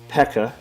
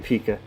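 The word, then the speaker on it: P.E.K.K.A: really cleverly uses the let me say it right pekka off to try to stop saying pika he puts the pekka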